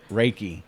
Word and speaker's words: reiki: say it since i definitely have a trouble pronouncing you say it it's right reiki yeah yeah i don't know i call it reekie but that's ricky don't lose that that's right